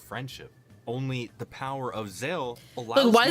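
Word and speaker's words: Zexal: Um, in JP, the show is actually called Zeal. The X is just there for some flavor, right? But I think in localization I guess they got confused by the X so they call it Zeel.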